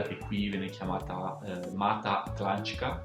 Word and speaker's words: Atlântica: qui viene chiamata Mata Atlantica. Atlantica sarebbe Atlantica, no? La T si pronuncia come una C molto spesso qui.